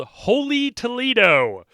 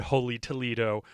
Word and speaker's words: Holey Toledough: That is H O L E Y, like a donut hole. And then Toledo is T O L E D O U G H.